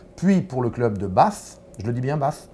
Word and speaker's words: Bath: Vous êtes un passionné de rugby, vous avez joué de 1984 à 1991 avec l'équipe d'Angleterre, puis pour le club de Bath, je le dis bien Bath?